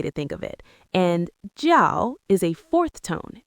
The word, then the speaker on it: 叫: And jiào is a fourth tone. It's a sharp, decisive drop. Jiào, like you're stamping a piece of paper. Jiào.